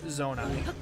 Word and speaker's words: Zonai: And yes, the correct pronunciation is the word zonai. pronounced just like if you had a zone for your eye, you know.